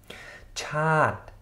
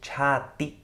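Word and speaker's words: ชาติ: Chat, chat, der Staat. Chat, also nicht chati oder so.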